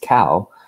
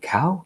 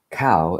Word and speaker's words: Kao: you who don't know my last name is pronounced cow and some people think cow like the farm animal no no cow as in rhymes with dao okay so just think